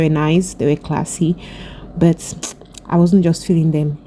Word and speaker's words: BUT: So I decided to go to Bu by Arno. Bu is just spelled like Bert, B-U-T.